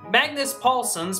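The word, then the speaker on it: Magnus Pålsson: ha I learned how to say it right Magnus Paulson's popular poper from the V soundtrack if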